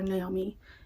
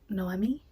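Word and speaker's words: Noemí: name wrong I think I called her Naomi it's pronounced noi and she is going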